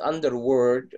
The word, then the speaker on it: underworld: Not underworld. No, underworld. حتى باي فهمني تحت الايه تحت الكلمة. Underworld. World. Your L should be pronounced.